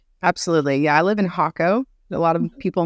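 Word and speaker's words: Jacó: to your situation absolutely yeah I live in hako a lot of people mispronounce as yako or Jacko it's really really really bad you'll hear it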